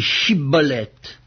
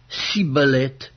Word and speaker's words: Shibboleth: Il lui disait alors « Eh bien, dis Shibboleth ». Et il disait « Sibboleth », car il ne pouvait pas bien prononcer, sur quoi les hommes